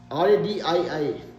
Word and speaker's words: radii: Volumes and radii, R-A-D-I-I, how do you pronounce it?